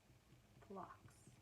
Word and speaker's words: Phlox: Phlox. That's how you pronounce it.